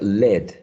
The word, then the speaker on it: lead: El sustantivo o noun, debajo, se pronuncia led.